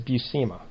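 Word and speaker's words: Buscema: oh it's great that's that's how i found out how to finally say his name that at least the way stan lee said his name of that is bussima right so kissima again the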